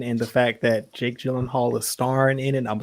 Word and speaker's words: Gyllenhaal: His last name is pronounced Gyllenhaal.